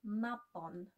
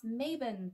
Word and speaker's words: Mabon: Some neo-pagans also call this celebration Mabon, but they pronounce it as Mabon for some reason.